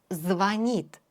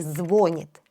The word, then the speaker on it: звонит: Ударение на «и». Звонит. Не говорите «звонит». Это ошибка.